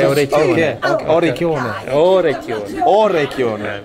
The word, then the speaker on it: orecchione: Yeah, watch when you say orecchione. Okay. Orecchione. Orecchione. Ah, the O is important. Very important. Okay.